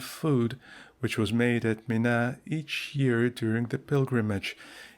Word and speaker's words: Mina: Footnote Mina that I is pronounced very short is a suburb of Mecca and a footnote.